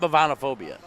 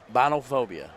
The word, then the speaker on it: bovinophobia: What'd you call it? Binophobia. I think. Did I say it wrong? Yeah, I never even heard of it. Okay, enlighten. Well, I just had it right the first time. Enlighten then you us. asked me again.